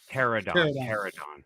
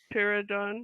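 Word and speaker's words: Pteranodon: Pterodon. Yeah. The P is silent. The P is silent. Pterodon.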